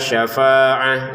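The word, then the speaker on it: شفاعة: Syafaatun dibaca syafaah karena berhenti. Apalagi ada tanda qof lam memang sebaiknya berhenti. Wal kafiruna humudzolimun.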